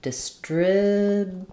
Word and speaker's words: distributed: And distributed, change your final T for a flap, distributed.